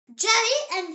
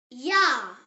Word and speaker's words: Ja: So every time you see the letter J in German, think Y sound. The example word is Ja. Say it. Ja.